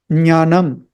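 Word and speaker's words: ज्ञानम्: That letter is Nya, Nya, Nya. That is how you pronounce Jnanam, which means knowledge.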